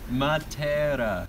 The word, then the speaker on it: Matera: Matera.